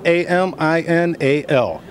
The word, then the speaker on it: Aminal: And that is spelled A-M-I-N-A-L. And everybody just calls me Animal. Well, not really true, because when we say Animal, everybody corrects me and says, no, it's Aminal.